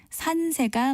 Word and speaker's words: 산세: 산자의 기세 세자를 씁니다이 단어를 발음할 때 산세 또는 산세를 모두들을 수 있는데 어느 것이 맞는 발일까요 네 이때는 예사 소리로 발음하는 산세가 맞습니다 또 부엉이 뻐꾸기 꾀꼬리